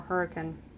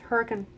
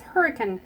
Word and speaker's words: Hurricane: Or Hurricane. St. George. Is it pronounced Hurricane? It's Hurricane. Really? Mm-hmm. I did not know that. Okay. It looks like hurricane, because that's how it's spelled, but it's Hurricane.